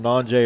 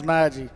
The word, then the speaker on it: Najee: Yeah, I think we were pronouncing Nanjay or Najee all football season last year, and I was corrected on that about every game as well. Well, his name's Najee.